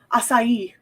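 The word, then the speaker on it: Ajisai: Aj I s ai like asai.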